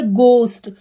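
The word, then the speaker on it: ghost: देखिए यह लिखा है घोस्ट हम इसको घोर नहीं पढेंगे हम इसे पढेंगे घोस्ट तो आपको यहां पर सुनने में पता चल रहा होगा के यहां पर क्या है साइलेंट है घोस्ट का मतलब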